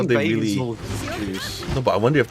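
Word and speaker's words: Bazelgeuse: trailer today, when they pronounced basil goose as bazelgeese, I'm like, Bazelgeese?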